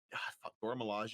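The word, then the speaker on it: Dora Milaje: the dora melange is how you say that yeah the uh wakanda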